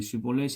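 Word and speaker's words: 쉽볼렛: 그가 만일 아니라 하면 그에게 이르기를 슈볼렛 발음하라하여 에브라임 사람이 그렇게 말하지 못하고 시볼렛이라 발음하며 길라 사람이 곧 그를 잡아서 요단강 나루토에게서 죽였더라.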